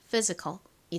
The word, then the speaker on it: physical: 그리고 A은 어 소리 나서 한국식으로 피지ic컬이라고 표기하고 실제 발음은 physical이 됩니다.